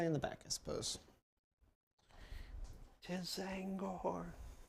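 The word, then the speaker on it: T'Zangor: 'Tis Zangor. The T is silent.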